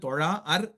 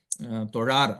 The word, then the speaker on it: தொழார்: வாளறிவன் நற்றாள் தொழார் எனின் அந்த இடத்துல சொல்லும்பொழுது தொழா அர் எனின் அப்படின்னு பிரிச்சு சொல்லக்கூடாது தொழார் அந்த அதாவது அளபெடுக்கிறது அளவெடுக்கிறதுனால என்ன அது ஒரு மாத்திரை அளவுக்கு நம்ம கூட்டி உச்சரிக்கிறோம் அதனால அந்த இடத்துல தொழா அர் அப்படின்னு சொல்லக்கூடாது அப்படின்னு நீட்டிச்சு தான் சொல்லணும் அதையே வந்து இன்னிசை அளபடை